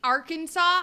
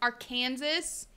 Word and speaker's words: Arkansas: What I think Arkansas or Kansas? No, it's Arkansas. Arkansas. Yeah, it's Arkansas because it's pronounced Kansas and not Kansas.